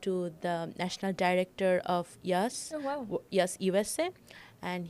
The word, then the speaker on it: IAAS: It's the pronunciation would be Yas Kirkwood.